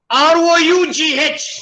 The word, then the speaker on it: rough: R-O-U-G-H is rough. Where is F there?